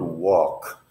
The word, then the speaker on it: walk: becomes too long walk to pronounce the word walk I would describe this W sound as if you were going to use Spanish characters the letter U followed by the vowel a the value followed by